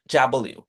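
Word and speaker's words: W: ভি একটা ঝামেলা আছে, আমরা এই যে এটাকে বলি ডাব্লু বা ডাব্লিউ, এটা হবে ডাব্লিউ।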